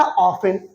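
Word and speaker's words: often: ऑफन। लिखा ऑफ्टेन है लेकिन पढ़ा गया था ऑफन। क्यों? क्योंकि मैं बच्चों इसमें टी साइलेंट होती है, ये साइलेंट का चिन्ह होता है।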